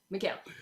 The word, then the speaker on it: Mikal: Bridges, God damn it, I said his name wrong again. Mikal Bridges. Your accent. I know, I said it right the first time. It was I know. It's Mikal. Mikal Bridges.